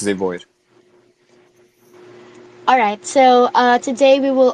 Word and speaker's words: ZeVoid: Did I pronounce that Yes, correctly? that's Yeah, right. It's ZeVoid.